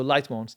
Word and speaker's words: Litemons: Not LITEMONS. Mons, yeah. That's how I would pronounce it. 1 O, not 2. Yeah, so LITEMONS.